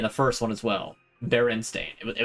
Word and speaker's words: Berenstain: Berenstain. It was Berenstain. Berenstein. If we're gonna go like the full route with it, because, you know, it's a Germanic pronunciation.